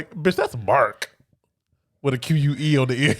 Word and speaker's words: Marque: a lot about him until later but uh Marquee Richardson playing Mao because that's just mark Marquee it's it's spelled Marquee but Mark Richardson Marquee Marquis would